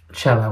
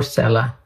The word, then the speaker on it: Cella: take your time but this Chella would definitely help so or Cella I've heard it pronounce both ways there you go so